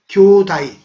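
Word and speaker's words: 兄弟: 지읒이 국외음화에서 디귿으로 바뀌고 어이에 해당하는 복모음 애가 쪼개져서 아이로 바뀌니까 다이가 되는 거예요. 그래서 전체를 읽으면 교다이. 그래서 형제가 일본 발음에서는 교다이라고 발음되는 겁니다.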